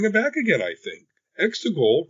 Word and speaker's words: Exegol: Exegol, rhymes with testicle, didn't explode.